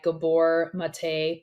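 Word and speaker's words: Gabor Maté: myth of normal that just came out by Gabor mate please correct me on the pronunciation yep you're correct okay and uh the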